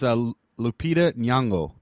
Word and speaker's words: Lupita Nyong'o: cast of Daisy Ridley, Harrison Ford, John Boyega, Lupita Nyong'o. Nyong'o. I actually looked it up on YouTube to see how to pronounce her name. Yeah. Are you serious? Yeah. And it is Nyong'o? It's Lupita Nyong'o.